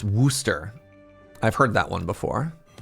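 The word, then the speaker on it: Worcester: Warchester is pronounced Worooster.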